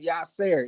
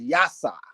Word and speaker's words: Yasa: Everybody want to call him Yasser. It is Yasa. That is how you say his name, Yasa.